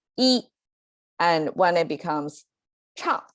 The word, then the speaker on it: 一: see this horizontal line is our e is pronounced by itself as e is simply one um in our numerical system